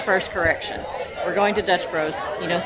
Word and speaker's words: Dutch Bros: on the channel we're going to dutch not dutch brothers i got corrected by jason from a lot yesterday that's not his first correction we're going to dutch bros he knows how to say it we have